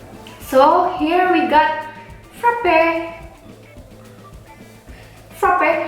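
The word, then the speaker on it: frappé: Frappe, how you say frappe? Frappe. Without accent? No accent. Oke, frappe, bacanya frappe. Ada double P di dalamnya, ada dua huruf P, frappe, jadi frappe. Seperti itu, bukan frappe, bukan ya.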